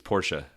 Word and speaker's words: Porsche: Which, for the record, it's Porsche, not Porsche, right? Because I feel like that's Absolutely a right. common mispronunciation.